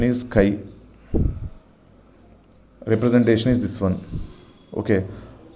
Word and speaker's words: chi: Pronunciation is chi.